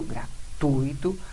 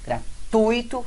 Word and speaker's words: gratuito: Gratuito, fale, não diga gratuito, porque gratuito, não é? Entraria na regra do hiato e teria acento.